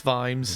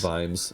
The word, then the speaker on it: Vimes: time for me it's Vimes. Vimes, yeah. Which I now have a problem saying Vimes out loud because my wife keeps telling me that I can't pronounce V's. I pronounce them as F's, so I kind of go.